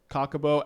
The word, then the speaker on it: Chocobo: I've been eagerly awaiting the release of this card, Sazh Chocobo.